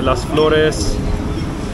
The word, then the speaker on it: Las Flores: There's a Wildflower, a Las Flores. That was good pronunciation.